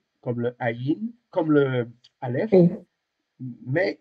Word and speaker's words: Aïn: Et alors, c'est une lettre muette. On dit légèrement gutturale. Alors, le mot guttural, ça vient du mot gorge. Ça veut dire que c'est une lettre qui se prononce légèrement dans la gorge.